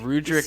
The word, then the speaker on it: Rudric: But He Rudrick just spells sounds so character's much more name wrong.